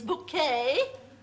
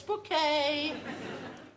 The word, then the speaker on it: Bucket: My name is Bouquet. Yes, I'll spell it. B U C K T. No, it's Bouquet.